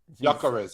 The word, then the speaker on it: Gyökeres: Michelle says pronounce Gyökeres. Gyökeres, yeah.